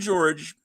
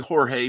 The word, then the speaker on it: Jorge: thing my friend George it's really Jorge but he went by George because it was the 70s and it's like teachers didn't know how to pronounce exotic Spanish names so just call me Geor you know you just